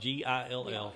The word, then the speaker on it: Gill: It's spelled Gill.